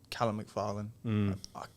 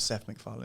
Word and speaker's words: McFarlane: a guy taking over, Callum McFarlane. Everything in me just like, not Seth. It's not Seth MacFarlane. It's Callum McFarlane. Say it right.